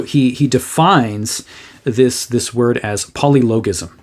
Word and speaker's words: polylogism: So he defines this word as polylogism, or polylogism, I've heard it pronounced, but logos. I use the hard G.